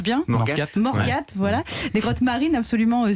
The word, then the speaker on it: Morgat: N'hésitez pas à visiter les grottes de Morgat, je prononce bien Morgat, voilà.